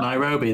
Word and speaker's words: Nairobi: How do you pronounce that? Nairobi, there we go.